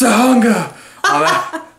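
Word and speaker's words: Tujunga: It's pronounced Tahunga.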